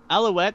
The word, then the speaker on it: Alouette: Wow, Alouette, that's how your character's pronounced, right? Mm-hmm.